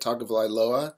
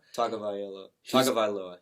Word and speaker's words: Tagovailoa: Tagovailoa. Tagovailoa.